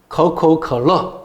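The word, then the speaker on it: 可口可乐: 근데 발음은 어떻게 되느냐? 커커컬러 이렇게 됩니다. 커커컬러. 그러니까 가구가락 코카콜라하고 발음 비슷하잖아요. 그죠?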